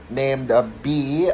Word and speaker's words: Bea: And so the film tells the story of this young girl named B. Well, technically it's spelled as Bea, but pronounced B as if as in like just a B.